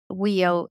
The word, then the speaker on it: Wio: First of all, how do you pronounce WIO? Is it Wio?